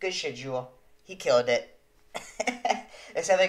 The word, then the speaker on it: Jewell: but uh it is jewel okay it's jewel it's jewel okay we know we know now we know now it's pronounced jewel we got you he